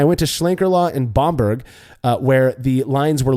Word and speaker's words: Bamberg: on Ral versus Rous also the city is pronounced bomberg uh cringe itch quell he says thank you